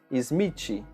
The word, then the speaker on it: Smith: Unfortunately for us, it is very difficult to make the sound of TH so we make the pronunciation of TI in Portuguese Smith.